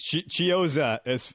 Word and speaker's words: Chiozza: It's Chiozza. As far I had to look it up myself. It's Chiozza.